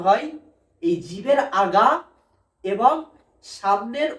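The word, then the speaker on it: حاء: হা উচ্চারণ হয় এই যে গলা, এটাকে কণ্ঠনালী বলা হয়, এই গলার মাঝখান হইতে উচ্চারণ হয়।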